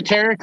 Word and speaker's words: Tarek: Hey, you said Tarek.